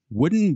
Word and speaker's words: Voodin: up with German startup Voodin Blade Technology. Now, it's spelled V-O-O-D-I-N, so if you happen to Google that, make sure you spell it correctly.